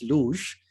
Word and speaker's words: luge: So I was getting the pronunciation wrong. It's luge.